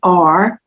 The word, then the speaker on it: Shaver: Shaver is known as the Couples Whisperer, and he has written a book called The Marriage Cure, and Shaver is spelled as it's pronounced, Shaver.